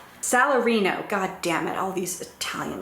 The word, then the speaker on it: Salarino: that antonio is really vile to as are salerno and solanio did i say his name right salarino goddammit all these italian names also his daughter